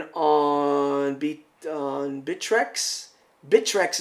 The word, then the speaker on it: Bittrex: on be on bitrex bitrex is the ways to pronounce it I a lot of people have a hard time pronouncing it it's called bitrex so I hit the